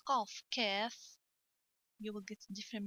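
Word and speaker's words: كاف: There is a big difference in the pronunciation between Kaf and the Qaf. Don't pronounce Kaf, Qaf, and don't pronounce Qaf, Kaf.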